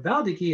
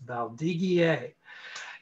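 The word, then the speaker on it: Valdiguié: of your listeners asked is valdegier or valdiki as some people call it but if you want to say it correctly it's valdigier and valdigier think gamma beaujolais we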